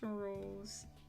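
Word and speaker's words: Rouxls: It's named, it's pronounced Rules.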